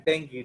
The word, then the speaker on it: dengue: This is pronounced as dengue, not dengue. ये गलत pronounce करते हैं लोग, यू कैन सी द नेट, इसका प्रोनाउंसिएशन है डेंगी, डेंगी।